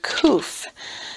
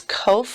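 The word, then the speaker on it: קוף: So some people pronounce this kof or kof. I like to say kuf because I can get it mixed up with this one, which is yod kaf kaf. And I don't want to get it mixed up. And kuf is a perfectly acceptable pronunciation of this letter.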